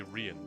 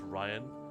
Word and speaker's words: Rian: I want to say Rian, but pretty sure it is just Ryan spelled with an I.